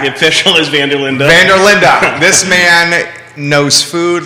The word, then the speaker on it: van der Linde: of your last name oh vanderlinda van der linda not as it appears because a lot of folks think it's vanderlaan and we'll that's good